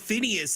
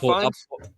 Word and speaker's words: Fiennes: Ralph Phineas, his brother, was in attendance. Ralph Phineas is a well-renowned actor. Voldemort from Harry Potter. Oh, Ralph Fiennes? Ralph Fiennes. Yeah, Fiennes. Yeah, that is how you pronounce it.